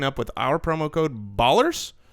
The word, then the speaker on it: Ballers: with our promo code Ballers it rhymes with dollars and it's also part